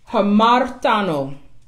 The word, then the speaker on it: hamartano: And in the Greek, the word sin is hamartano. Hamartano. And it is spelled HAMARTANO.